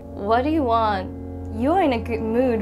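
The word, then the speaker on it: は: And also, if you notice the spelling, wa is spelled with hiragana wa. Yes, you guessed right. It's the same reason. This ha is a particle wa.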